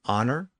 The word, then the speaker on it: honor: then ultimately into English so as a general rule when we encounter a word with a silent h we're usually looking at a French lone word that includes words like honor honest our h o r